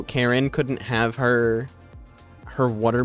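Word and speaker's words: Caryn: And And it's not spelled Karen like with a K. It's spelt with like it's spelled like super weird with like a C and it's like Hold on. Where is this? It's spelled with Oh, it's like C. It's like C A R Y N. But it's still Karen.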